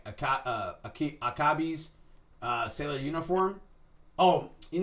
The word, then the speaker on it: Akebi: other things that fall into place like a akabi's uh sailor uniform oh you know what I've seen this one it's pronounced akabi so akebi's uh sailor uniform Attack